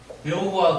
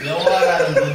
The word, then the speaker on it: 여호와: 요 발음이 동양 발음이 서양 발음으로 가면 여와가 안 된대요. 혀가 구조가 안 돼. 여와가 한 번에 안 돼. 그래서 서양 발음 여가 호가 들어가야 와가 온다 해. 그래서 여호와 이렇게 부른다 해. 원래는 이게 없어 여와인데 여와.